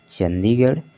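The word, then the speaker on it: Chandigarh: दिख रहा होगा तो आर एच को उ चरण किससे करना है आपको रा से करना है ठीक है देख अलीगढ़ चंडीगढ़ रामगढ़ आजमगढ़ सभी वड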